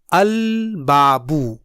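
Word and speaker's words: البابُ: لام پڑھا جائے گا۔ جیسے میری آواز غور سے سنیے، البابو۔ آپ نے غور کیا،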